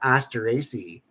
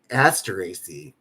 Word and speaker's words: Asteraceae: It's not Asteraceae. It's Asteraceae. Asteraceae.